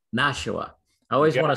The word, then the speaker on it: Nashua: now i'm gonna miss pr how do you pronounce the the club the city here nashua nashua i always want to say something else so